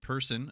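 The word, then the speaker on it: Persson: players this season uh Ludwig person apparently is the pronunciation on that going to North Dakota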